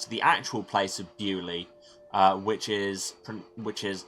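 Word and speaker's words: Beaulieu: the French bullia and they've kept the spelling but decided to pronounce it bewley because we're English and we know better apparently I feel like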